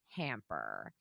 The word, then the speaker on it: Hampr: It's called Hamper. That's spelled Hampr.